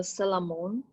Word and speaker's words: Solomon: Salamon, Inna Rivatar.